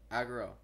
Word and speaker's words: Agro: I must say horse Agro like agre Oh pronounced AG euro aggro how did you find that so fast I